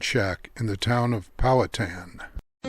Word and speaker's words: Powhatan: canoe and no matter how many times we mispronounce it it is not poh hatan or pow Hatten it's powatan named after the 17th century Indian Chief and